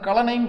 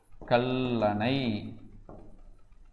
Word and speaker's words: கல்லணை: இப்போ நான் சேர்த்தான கலனைன்னு கிடைக்குது பாருங்க. கலனை தப்பு தானே, உச்சரிப்பே வரல தானே. அப்போ தனிக்குறில் ஒற்று இங்கே உயிர். அப்போ இன்னொரு இல்லு போடணும், அணை. ஸோ அப்போ என்ன வரும்? கல்லணை. ஸோ இதுதானே கரெக்டு.